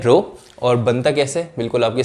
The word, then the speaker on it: rho: ठीक है, इसको प्रोनाउंस कैसे करते हैं, रो.